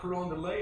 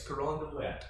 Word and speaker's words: Carondelet: I proved, and it's not Carondelet, it's Carondelet.